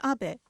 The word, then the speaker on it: Abe: My name is Abe, but in the United States, some people mistakenly pronounce my name as Abe, but that is not